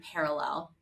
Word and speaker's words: Perelel: one Ground Zero we we call the brand parallel we spell it in our own way because it's better for Branding but we call the